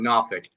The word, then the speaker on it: Norfolk: down in uh in Nafk. Nafik. Yeah. What's that? I said there's no R in Nafk.